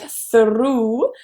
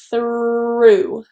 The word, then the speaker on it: through: Don't roll the R. This is not trilled in English, so it's not R like through, but through. Thur. So you see I'm very quickly transitioning to that R.